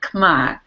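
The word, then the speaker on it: Khmer: in Cambodia their original culture is called the Kamai culture it's spelled KH hm R we might say k as in C Rouge but it they pronounced it kma so Kar Rouge um was the takeover of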